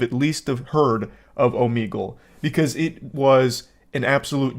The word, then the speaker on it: Omegle: All the way back in high school, I was calling it Omegle. And only today am I realizing that it's actually pronounced Omegle.